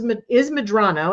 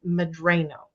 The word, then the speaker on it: Medrano: made us pronounce it Medrano. So all my life growing up, I was Medrano. And that alone was not helpful, because there was some thing called Drano.